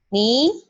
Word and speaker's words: 你: Nah, di bahasa Mandarin, ketika nada ketiga bertemu nada ketiga, apa yang terjadi? Nah, maka otomatis nada ketiga di kata pertama di sini itu berubah menjadi, kalau dibaca ya, penulisannya tetap. Kalau kita baca, ni-nya ini, kita nggak perlu terlalu tarik. Ni-nya otomatis berubah jadi nada kedua.